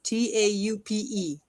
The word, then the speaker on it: taupe: T A U P E.